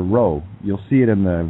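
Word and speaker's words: rho: Greek letter and it's it's actually pronounced Ro just like the Scots do it doesn't that neat how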